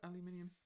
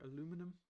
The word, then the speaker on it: aluminium: Do we have aluminium or aluminum?